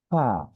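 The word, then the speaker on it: فاء: উচ্চারণের ক্ষেত্রে একদমই সহজ, সামনের উপরে দাঁত, নিচে ঠোঁটের পেট, অর্থাৎ এই যে দাঁত আর এই আমাদের এই ঠোঁটে লাগবে। ফা, ফা, আগে বাতাসটা বের করবো।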